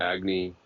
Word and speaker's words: Agni: And again, just that would be the sections on, in order, Agni, am I saying it right? Yeah. Mm-hmm. Agni, Soma, and Indra.